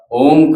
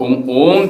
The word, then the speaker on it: ओम: तो जब ओम चैंट करते हैं तो ओम में ओ को 3, मां को 1, 3:1 इसमें हमने चैंट करना होता है।